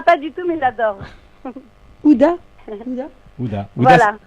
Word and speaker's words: Huda: Ouda. Ouda. Voilà. Ouda, ça s'écrit Ouda. comment? Ah, Comme Gouda? Comme ça s'entend. Ah, Ouda. Non, c'est H-U-D-D-A.